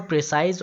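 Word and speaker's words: précis: To make it more प्रिसाइज। और ये क्या हो गया, उससे भी ज़्यादा प्रिसाइज हो गया, छोटा हो गया। द एग्जैक्ट वर्ड इज प्रेसी, ठीक है, सॉरी फॉर द प्रोनाउंसिएशन।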